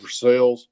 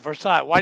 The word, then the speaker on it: Versailles: like three years so when I see Versailles it's like Versa why do you what do you what how do you pronounce it versales versale what you got how how